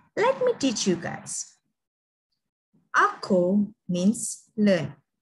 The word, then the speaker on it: ako: Ako means learn.